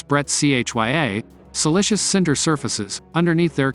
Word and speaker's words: breccia: wipe broken up or what geologists would call breccia pronounce Bret chya silicious Cinder surfaces underneath